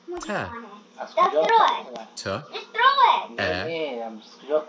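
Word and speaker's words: ت: makes a t sound and the baby a on top makes a short a sound, together we read them as ta.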